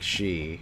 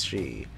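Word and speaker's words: sidhe: to pronounce it because it sounds like she and it's very close to she but it's she or whatever.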